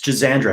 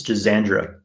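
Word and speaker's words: Schisandra: awesome really really accessible herbs for people it's jazandra i forgot to mention it's jazandra it's spelled c-h-i-s-a-n-d-r-a that's a very common fairly inexpensive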